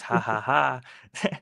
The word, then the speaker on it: 555: Um, uh, fun fact, uh, 555 in in in Thai, it's, uh, it it's pronounced as haha. It's just like the way you laugh, but yeah.